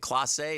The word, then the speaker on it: Clase: Is it Clase? Is that how you say it? Clase, yeah.